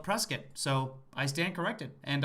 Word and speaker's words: Prescott: arizona thousands of times never heard of press kit arizona but apparently the locals call it prescott so i stand corrected